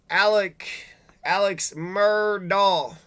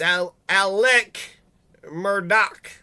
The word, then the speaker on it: Alex Murdaugh: Looks like your name is Alex Murdaugh. Nope, it's Alec Murdaugh.